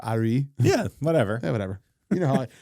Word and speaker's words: Arye: Ari his name is spelled Arye. So Ari.